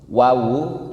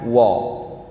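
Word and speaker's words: و: Wawu itu huruf tarkik, huruf tipis. Tipis itu tandanya bisa diucapkan dengan senyuman. Wa, baca. Wa. Wa. Wa. Bukan wo. Ya, bukan wo.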